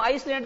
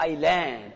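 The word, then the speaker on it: island: यहाँ एस का उच्चारण नहीं होगा, बोलो आइलैंड। आइलैंड यानी क्या होता है?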